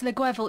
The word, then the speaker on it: Guevel: I hope I pronounced your surname correctly. Near enough. Lovely. So, Close. Yeah, that's all good.